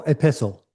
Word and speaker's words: epistle: How do I pronounce the other E word? I always get it wrong. The term for letter. Oh, epistle.